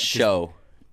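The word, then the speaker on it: Hsu: how you pronounce it i believe it's show is it show yeah so she floored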